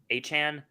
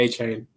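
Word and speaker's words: Achane: plays running backs both how do you say you say his name a-chan no but he he corrected it he corrected his fans and said I'm gonna say a chain but anyway you have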